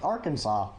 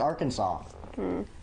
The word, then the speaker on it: Arkansas: Arkansas must be pronounced Arkansas. That also be true. Yeah. But or Kansas. It It is true. It must be pronounced Arkansas.